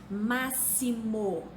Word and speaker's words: máximo: Máximo. Máximo se escreve com X, mas se pronuncia como se fosse SS. Próximo se escreve com X, mas se pronuncia como se fosse SS.